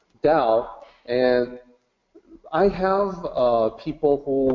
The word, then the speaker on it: Tao: Okay, so the short answer is that the correct way to say Tao is with a D sound, Tao, and I have people who will push back on that.